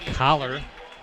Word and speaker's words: Collar: That's number 23 for the Rockets, Troy Collar.